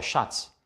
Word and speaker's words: Schatz: TZ wird Z ausgesprochen, zum Beispiel der Schatz oder der Platz. Der Schatz, der Platz.